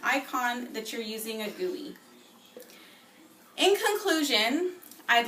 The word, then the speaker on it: GUI: remember what the um how the pronunciation for the GUI what it's how it sounds the whatever it's called the gooy good job thanks thanks